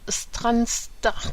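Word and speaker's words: Strathearn: est edouward Auguste duc de Ken et de stranstart alors je vais vous le prononcer parce que vous l'écr vous l'pp pardon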